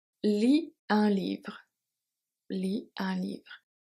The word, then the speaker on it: lit: Lis un livre. Lis un livre. Le T is silent and E at livre silent as well.